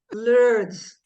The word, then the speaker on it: Lourdes: much I I'm gonna try to pronounce the name the way you say it Lords that's right I say Lord L is your